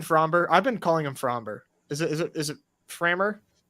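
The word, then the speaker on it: Framber: I've been calling him Fromber. Is it Framer? I do pronounce the B in Fromber. So do I.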